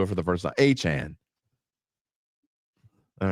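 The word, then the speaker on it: Achane: But I have always had I've tried to fix it dozens of times, and I still pronounce it wrong every time I do it for the first time. Achan.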